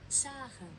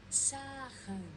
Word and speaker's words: Sägen: Sägen. Sägen.